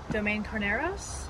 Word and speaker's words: Domaine Carneros: than we do how do you say it domain caros it sounds boring how did you say it